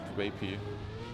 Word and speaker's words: Scrappy: Yeah, Scrappy should be pronounced Scrapy.